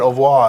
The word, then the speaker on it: au revoir: You're supposed to put your tongue against the bottom of your mouth. Yeah. Au revoir. Au revoir. Yeah. The R is really Yeah. back here.